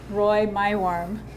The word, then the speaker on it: Roy Meiworm: And I'm here with the resident historian, Roy Meiworm. Did I pronounce it correctly?